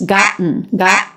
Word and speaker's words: gotten: T there's an exception when we have t schwa and that t is a stop T so it's not gotten it's not gotten but it's gotten that's going to be the most common pronunciation haven't gotten haven't gotten